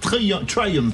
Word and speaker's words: Triumph: On va recevoir le directeur marketing de Triumph, pour le prononcer à l'anglaise, qui vont sortir 29 modèles dans les 6 mois à venir.